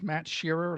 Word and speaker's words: Shearer: It's Matt Sheerer like Harry Sheer. S H E A R E R.